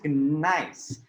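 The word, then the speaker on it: gneiss: the batting order is nice although it has a g at the beginning you only say it like nice like nice so it is a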